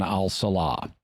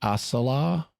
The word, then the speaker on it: al-Salah: And also his name is Commander Hansen al-Salah. Yeah. And which, if I'm thinking about it, shouldn't that be pronounced as-Salah? S is one of the sun letters in Arabic, if I'm not mistaken.